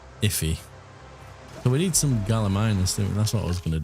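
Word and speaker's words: Gallimimus: So, we need some galaminas. That's what I was going to do. There we go. Gimal control. Galamus. Galamima. Okay, I'm completely pronouncing it wrong.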